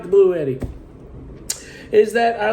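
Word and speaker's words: BLUETTI: on the pronunciation of I say blue Eddie A lot of people are saying they're pronouncing it Bluey I don't know I like blue Eddie so I'm going to stick to that so be it Spelling's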